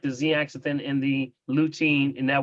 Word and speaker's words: zeaxanthin: And there's another one called zeaxanthin. Zeaxanthin. Okay, let me spell that for you.